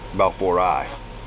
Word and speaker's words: balfouri: Some say E, but it's pronounced balfouri.